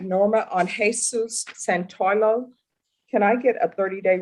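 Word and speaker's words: Santollo: Judge, I'm back from breakout room on Jesus, and I believe it's pronounced Santoyo, but it's T-O-L-L-O.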